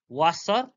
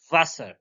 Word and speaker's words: Wasser: W sound like English V, like Wasser. It's not Wasser, it's Wasser. V comes for Wasser.